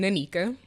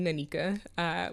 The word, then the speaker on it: Nneka: they met okay so my parents don't agree on how you pronounce my name for most of my life I went by an Anika mm-hmm and my mom calls me Anika but my dad calls me Nika I pee I meet